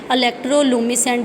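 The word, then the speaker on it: electroluminescent: आगे है जी इलेक्ट्रोलुमिसेंट डिस्प्ले। इसमें कुछ वर्ड साइलेंट हैं लुमिसेंट में, और बेसिकली इसे हम LED बोलते हैं, लेकिन ELD है।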